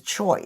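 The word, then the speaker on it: Choi: However, the Koreans pronounce that in America as Choy, C-H-O-I.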